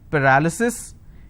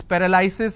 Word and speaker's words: paralysis: crippling and crippling and paralysis it's paralysis it's not paralysis it's paralysis paralysis which is why i'm in